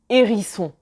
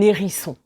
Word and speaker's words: hérisson: Un hérisson et pas un hérisson.